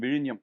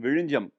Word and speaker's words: Vizhinjam: You are the one who says it right When there's a 'Z' in a word, many from the North might pronounce the word with a 'Zee' and call it Vizeenjam If the story of Sanju, from Vizhinjam, was made into a